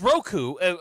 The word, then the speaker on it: Roku: I like the way he pronounces Roku. Yeah, I like the way you say that. It's the coup at the end. It's Roku. But you you say it like an Englishman.